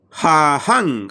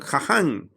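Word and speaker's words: חָכָם: Este es en el hebreo, sabio se dice jahan, jahan. Algunos ponen con doble J, es jahan.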